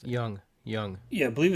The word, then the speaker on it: Jung: How do you pronounce it? Young.